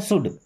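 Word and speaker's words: should: भाई शुड में ये एल साइलेंट होता है, क्या पढ़ते हैं शुड, शुड मीन्स चाहिए।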